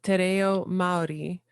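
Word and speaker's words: Te Reo Māori: So I picked up, you're saying Te Reo Maori. Am I pronouncing that kind of right?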